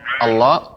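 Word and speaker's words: الله: Allah, lafaz Allah ini tebal.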